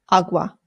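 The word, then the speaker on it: agua: Please don't say it that way if you're trying to speak Spanish. It's awa. Awa.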